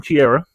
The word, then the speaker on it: Ciara: the hate train on Ciara. Just the fact she calls herself Ciara when it's spelled c i a r a. Spelled like she era but they call her Ciara.